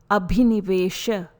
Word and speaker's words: Abhinivesha: Pronunciation for this fifth klesha is Abhinivesha.